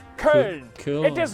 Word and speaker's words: Köln: The name is Köln. Say it with me. Köln.